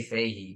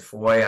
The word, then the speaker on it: Fahey: Like if you're in New England, like Boston, they say Fahey, but Okay. up here, somehow over the years, it's spelled the same, but it's changed to Foy. I don't know. So either one's fine, but just for folks listening in phonetically, it looks like Fahey.